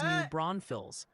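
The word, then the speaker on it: New Braunfels: Loving Tate dropping in with a pronunciation guide. They say Bernie is Bernie. Locks is Wahhatchee. New Bronfields is New Bronvilles.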